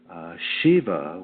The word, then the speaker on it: Shiv: And as some of you may know, Shiva, which is the Sanskrit term for sacred male, is sometimes spelled S-I-V and pronounced Shiv.